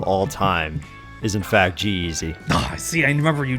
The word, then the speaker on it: G-Eazy: you say it but is it g-z or g-eazy g-eazy it's pronounced g-eazy and it was not